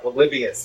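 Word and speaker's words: Polybius: I saw you had the infamous arcade back there and um hopefully I'm pronouncing it right. Palibius. Yeah, Palibius.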